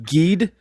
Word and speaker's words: Ged: It's pronounced Ged.